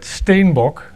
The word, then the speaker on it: Steenbock: I realized yesterday that Steenbock, as we pronounce his name, is actually a Dutch word, or maybe Afrikaans, and it means Capricorn.